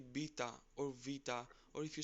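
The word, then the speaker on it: βήτα: Next is vita. You must There we have go, heard vita. it like beta or beta.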